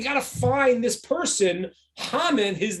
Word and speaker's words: Haman: The word hamin is the same word as Haman, just pronounced differently, spelled the same way.